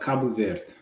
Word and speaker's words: Cabo Verde: so in Portuguese, you say it Cabo Verde. Okay. But with the English, they've changed it over time.